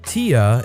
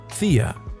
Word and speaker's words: Thea: her 4-year-old Daughter by pronouncing her name as Tia instead of Thea her name she was